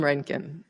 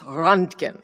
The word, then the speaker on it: Röntgen: namesake of our society, Wilhelm Röntgen, or as my husband keeps telling me, it's Röntgen, and we all pronounce it the wrong way.